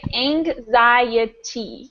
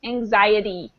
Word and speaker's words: anxiety: it the first letter anxiety is kind of a funny word because we give it sort of a g sound it has this nasy